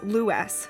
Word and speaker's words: Lewes: And yes, that is Lewes, not Lewes, as is commonly mispronounced.